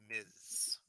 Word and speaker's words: Ms: use Miss and miss Ms is pronounced Miz do you know all